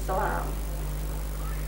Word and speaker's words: Salam: It means peace, though it is pronounced as Salam.